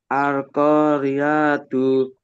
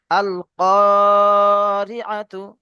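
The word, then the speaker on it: القارعة: আল করিয়াতু। হ্যাঁ, আরেকবার পড়েন। আল করিয়াতু। আচ্ছা, রিআতু পড়েছেন, রিআতু হবে, এখানে টান হবে না। আল কারিআতু, আল কারিআতু।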